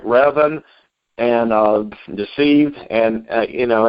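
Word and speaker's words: Revan: of the novels like revin or even i'm not exactly sure how to pronounce that often pronounced a couple different ways Oh reven okay thank you James alright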